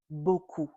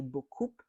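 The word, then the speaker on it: beaucoup: end and they say buup. Um, but that's not correct as well, right? Because here we're going to apply the rule and the rule says that the P at the end is silent.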